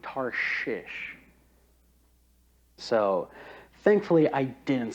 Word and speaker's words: Tarshish: Now, whenever I was reading this, I originally pronounced Tarshish as Tarnish. So as I was rehearsing this and practicing it, I would always have to enunciate Tarshish.